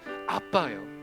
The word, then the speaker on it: 아바: 아바라고 이렇게 적어 놨는데 아빠예요. 알파 베타 베타 알파라고 헬라어가 발음이 아빠예요. 근데 아빠라고 하면 좀 이상할 것 같아요. 개혁 성경에서 아빠를 아바라고 했는데 아빠입니다.